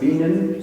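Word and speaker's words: Bienen: And Raina Weisler at the, I believe it's pronounced Beanan School of Music in Northwestern University for voice and musicology.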